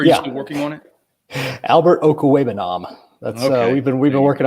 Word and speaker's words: Okwuegbunam: Do you think, and can you pronounce AlbertO's last name yet? Or are you still working on it? Albert Okwuegbunam.